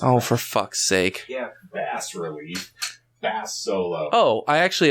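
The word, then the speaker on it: bas-relief: No, it's one S, not two. It's pronounced a bas relief. It's Oh, for fuck's sake. Yeah. bass relief.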